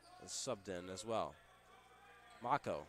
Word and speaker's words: Mako: Mako, sorry. Right next to it says rhymes with taco, as that will be